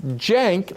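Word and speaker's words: Cenk: let it throw you is that yank Hank or plank okay it's jank like Jenkins you girl like you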